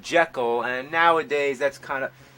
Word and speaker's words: Jekyll: you know that the proper pronunciation is jekyll that's what the author of the novel insisted robert lewis stevenson but only the first